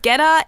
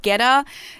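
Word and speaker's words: goetta: what i'm talking about so getta is spelled g-o-e-t-t-a and is basically some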